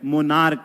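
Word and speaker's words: monarch: यह मोनार्क नहीं है मोनार्क है और जब सीच का उच्चारण क होगा तो आपको केवल एस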